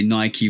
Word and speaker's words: Nike: Like there's a bunch of IKE words in the English language, and they're all pronounced Ike, like, Mike, Tyke. You know what I'm saying? But Nike is the one difference that I've always known.